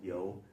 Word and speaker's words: You: line was the king yo and I know that looks like the English word u but it's pronounced more like yo the Y youu that